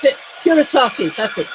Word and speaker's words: Kuretake: I'd like the Art Nouveau set of these curious, how do you pronounce it? Kuretake, that's it, Kuretake.